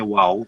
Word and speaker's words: WOW: Jadi kita iya. bacanya WOW, WOW Wow.